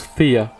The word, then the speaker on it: Phthia: favors the bold achilles king of thea it's pronounced thea it's an f and ath actually when i